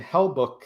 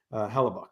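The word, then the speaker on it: Hellebuyck: Graham's saying Hellbuck, Hellbuick. I don't know how to pronounce that one, Graham. Hellbuck isn't the same goalie in the playoffs. Hellebuck.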